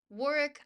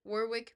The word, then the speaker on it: Warwick: It's pronounced Warick. I pronounce it Warwick because I refuse to acknowledge that the UK cannot remember to pronounce the other W in the word that they made.